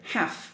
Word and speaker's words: half: What I want to tell you is half, the pronunciation is half, and this one is calf. So next time when you see a word, it looks like the same, you just change one or two letters, maybe you can guess the pronunciation in this way.